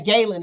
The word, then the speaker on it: Ghislaine: Okay, Galen is how you pronounce it. Thank you. Ghislaine.